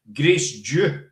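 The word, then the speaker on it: Grace Dieu: Grace Dew.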